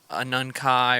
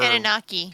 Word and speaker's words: Anunnaki: blood type, you are a descendant of the Anunkai or whatever. Anunnaki.